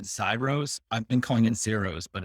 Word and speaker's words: Xairos: email i said cybros i've been calling in zeros but it's signed rose i zero says yeah that's how we pronounce it also okay so how we're in